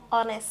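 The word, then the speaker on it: honest: অনেস্ট তাহলে দেখ এখানে কিন্তু এইচটা একটা সাইলেন্ট লেটার তাই এখানে যেহেতু নিচের উচ্চারণ হচ্ছে না।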